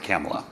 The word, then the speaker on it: Kamala: In fairness, Chuck Schumer mispronounced Kamala Harris's name over and over.